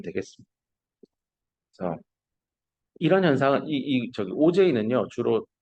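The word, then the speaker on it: Auger: 얘도 한국말로 써보세요 했더니 오거 이렇게 쓰더라고. 그럼 땡. 책을 안 봤다는 겁니다. 지정한 BL의 선생님 책을 읽으면 명확하게 나옵니다. 이거 오가 아니다. 오, 제, 이라고 읽으라라고 나옵니다. 그래서 요번에 시험에도 책을 잘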